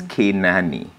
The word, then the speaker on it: Kenani: It's actually a Swahili way of pronouncing Canaan in the Bible, right? So it's Kenani, right?